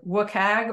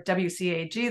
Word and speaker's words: WCAG: section 508 vpat and everybody says this differently either wag or wcag they'll just spell it out and what are they